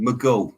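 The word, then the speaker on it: Maghull: Yeah, I worked in Liverpool at a place called Maghall, is it? I'm probably saying it wrong. Maghall, that's how they say it.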